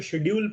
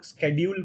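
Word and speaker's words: schedule: जैसे ये है, अब कुछ लोग उसको शेड्यूल पढ़ते हैं, कुछ लोग उसको स्केड्यूल पढ़ते हैं। दोनों प्रोनाउंसिएशन सही है ना, क्योंकि सब एक्सेप्टेबल है।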